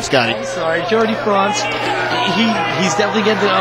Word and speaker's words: Jardi Frantz: wrestling circuit yes JY France France JY France is how you say his name Scotty I'm sorry Jordy France he he's definitely getting